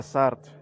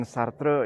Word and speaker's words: Sartre: Jean-Paul Sartre, dibaca Sartre, jangan Sartre ya. Ada profesor filsafat di Bandung yang ngomongnya masih Sartre, masih Descartes gitu. No, jangan begitu. Baca Descartes atau Sartre.